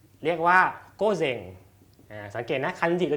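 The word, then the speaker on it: 午前: อง โยมิ ออก เสียง ว่า เซง นะ เป็น โก เซง โก เซง ถ้า อยู่ 1 ตัว อยู่ 1 ตัว จะ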